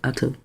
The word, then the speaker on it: OTO: OTO is actually, you pronounce it Otto.